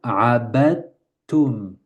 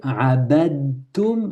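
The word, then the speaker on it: عَبَدتُّمْ: Et donc, quand il y a un dal avec une soukoun suivi d'un ta, on va directement au ta.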